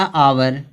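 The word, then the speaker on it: hour: आगे यहाँ दिया आवर। आवर में जो यच है, इस यच का उच्चारण हाँ नहीं निकल रहा, क्या निकल रहा है?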